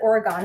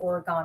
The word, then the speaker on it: Oregon: yes or is it oregon how do you it's not oregon you guys don't pronounce it oregon right you pronounce oregon so it's a quarter